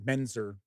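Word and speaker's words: Mentzer: think Frank meant mener why do I always mess up that name actually think it's it's just pronounced Frank menzer States his insights on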